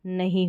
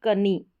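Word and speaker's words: knee: पहले यह साइलेंट रहेगा इसका उच्चारण नहीं होगा इसको पढ़ा जाएगा नी ना कि कनी नी पढ़ेंगे तो सबसे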